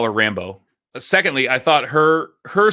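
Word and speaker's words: Rambeau: i thought it was rambo right like there's a there's an emphasis on the second syllable so it's not like john rambo it's rambo like monica rambo because that's that's that's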